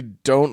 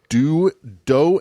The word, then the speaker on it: Do: So You're going to meet a guy, probably don't listen to his last instructions.